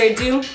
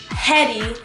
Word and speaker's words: Hedi: pronounce this man's name it's not Hedy there's no H it's actually silent so it's pronounced a